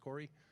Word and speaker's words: Kaare: For you non-Scandinavians in the crowd, I assure you it's pronounced Corey.